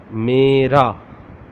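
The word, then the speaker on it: میرا: Mera. MERA. Mera. How to say in original Urdu? Meem, choti ye, re, alif. There are 4 alphabets. Meem, choti ye, re, alif. It becomes mera. Mera. Mera.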